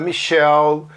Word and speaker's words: Michelle: Na verdade, a pronúncia Michelle é para nome feminino, não fala esse último E, né? Então é Michelle, Gabriel. Olha, Gabriel, o masculino é Gabriel. Gabriel é Gabriele que se escreve e é Gabriel. Daniel, Daniele. Então, cuidado com isso. Esses nomes não se fala o E no final, ok?